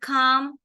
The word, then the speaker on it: calm: R sound right but in the word realm it is e sound okay now here this a l is making R sound so why here it is not making a sound can anybody tell good mom l is silent in all these but in real